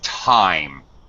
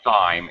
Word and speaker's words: thyme: It's time. It's not thyme. It looks like thyme, but it's pronounced exactly like, what time is it?